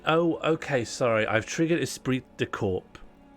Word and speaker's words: esprit de corps: Sorry, I've triggered Esprit de Corps. How do you say that in a more French way? Esprit de Corps.